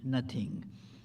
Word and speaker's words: noting: It was noting, N-O-T-I-N-G, got pronounced as it nothing.